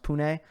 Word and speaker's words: Pune: I know that they have, I believe it's pronounced Pune.